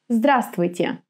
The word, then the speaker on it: Здравствуйте: For example, our famous «Здравствуйте». Здравствуйте. Now, which letter is not pronounced here? Здравствуйте. Right, this V. Здравствуйте.